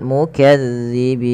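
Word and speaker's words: المكذبين: Kemudian melafal mukazzibin, langsung ke ya, zalnya ditekan, mukazza ya, mukazzibin.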